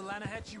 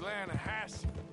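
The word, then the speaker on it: Lannahechee: rode down to the Lana Hetchy River I got some beautiful steelhead trout we made in Atlanta no no no the Lana etch it runs right near here yeah this pronounced Lana Hass why is everything in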